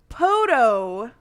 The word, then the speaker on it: podophilia: Let me overpronounce this. Podophilia. It's probably like Somebody podo. still misunderstood it. Podo? Podo. Like a podiatrist.